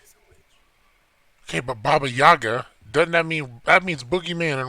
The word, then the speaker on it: Baba Yaga: Baba Yaga. Say it right. Okay, well, Yaga. I'm sorry, Baba Yaga, Baba Yaga. Yeah, the boogeyman. No, not Boogeyman, Baba Yaga.